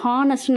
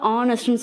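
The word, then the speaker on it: honest: For example ஹானஸ்ட் மேன், ஹானஸ்ட்னு நம்ம சொல்ல மாட்டோம், ப்ரொனவுன்ஸ் பண்ணுறப்ப ஆனஸ்ட்னு சொல்லுவோம். அப்போ ஆங்கிற அந்த லெட்ரு வந்து தமிழ் உயிரெழுத்துக்களில் இருக்குது.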